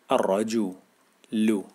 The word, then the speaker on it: الرجل: ع باع الرا الرا لام شمسيه لا تنطق الرا بنطق حرف الراء مرتين عشان عندي شده الرا الراج الرج ل الرج ل الرج ل